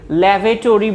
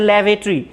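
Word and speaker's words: lavatory: তো ল্যাভেটরি, আমরা অনেকে এটাকে ল্যাভেটরি বলি, আসলে উচ্চারণটা ভুল। এটার উচ্চারণ হচ্ছে ল্যাভেটরি।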